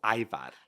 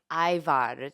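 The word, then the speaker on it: ajvar: name of what is it called it's called Ivan Ivar is that right that's correct and that was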